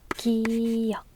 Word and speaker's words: 기역: ㄱ phát âm là [g]. Tên là 기역 .